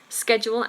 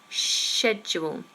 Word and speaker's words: schedule: comes up every week American is schedule SK SK schedule and British English is schedule shedule um Landon has been